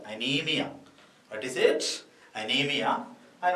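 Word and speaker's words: anaemia: So most of the children are writing A-N-E-M-I-A. Okay. So whenever you are writing the spelling of anemia, you must be very careful. Here there is an A is there, but its pronunciation is silent only.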